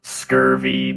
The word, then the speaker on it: SCRV: It is pronounced scurvy meatbags.